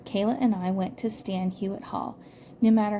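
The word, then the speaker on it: Stan Hywet: If you're ever near Akron, Ohio, and have a few hours free, it is worth going to visit Stan Hewitt Hall. It's spelled Hywet.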